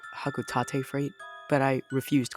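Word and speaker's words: Hocotate: his company hotate Freight now I know it's pronounced hakuta Freight but I refuse to call it that it's going to be haate Freight and their Adventures on the planet PNF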